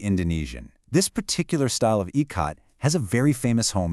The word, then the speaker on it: Ikat: It's called Ecot, and that's pronounced ecot.